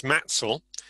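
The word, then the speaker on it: Mattishall: celebrated local locative name is matsal which comes from matashal you probably gathered i mean the modern pronunciation is highly different so that's identified in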